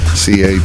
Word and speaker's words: Crochet: And that is Carlos Carrasco versus Garrett Crochet, spelled like it sounds. Crochet, just like you're doing needlework.